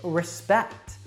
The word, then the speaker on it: respect: that schwa sound and the same thing happens with respect now the first syllable that is not stressed has that schwa sound and we give a strong Val sound to the second part so it's Russ respect now how about chocolate